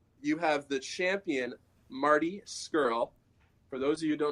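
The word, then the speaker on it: Scurll: have the champion Marty skirl for those of you don't know how to say his name it is like girl or squirrel skirl will Osprey is a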